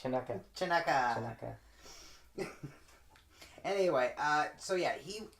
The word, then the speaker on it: Chanukah: It's pronounced Chanukah.